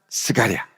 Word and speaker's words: 스가랴: 스가랴 1장 1절을 보시면요 여기 사가랴라고 되어 있는데 이게 헬라식 발음이고 히브리식 발음은 스가랴입니다 스가랴 말라기 바로 앞에가